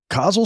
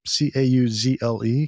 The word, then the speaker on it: Cauzle: Cauzle started 1.5 years ago. Excuse me, Yeah. Cauzle.